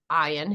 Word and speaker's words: Ian: And it's the Scottish pronunciation for ion.